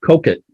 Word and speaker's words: Coquet: of the word but i read online that it's pronounced coke it i don't know i